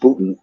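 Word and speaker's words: Boonton: t-o-n it's spelled boom boom done but it's pronounced putin anyway that's it that was the kind of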